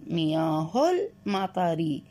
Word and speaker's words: مياه المطر: عندما نقرأ الكلمتين معا هنا همزة الوصل لا تلفظ، مياه المطري مياه المطري.